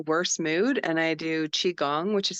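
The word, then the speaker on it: qigong: in like the worst mood and I do chiong which is spelled Qi g o n g for beginners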